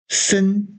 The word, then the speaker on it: listen: release 발매 출시 le listen to t가 발음이 안 되죠 listen to 뭐을 듣다